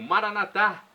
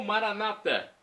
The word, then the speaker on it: Maranatá: E agora do aramaico dialeto de Jesus eu clamo: Maranatá! Maranatá ou Maranata, como dizem nossos irmãos separados, os evangélicos ou protestantes. Católicos colocam a tônica na última sílaba, protestantes na penúltima.